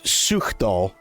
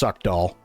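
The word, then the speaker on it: Suchdol: Well, they call it Suchdal, but it looks like it's pronounced Suckdoll.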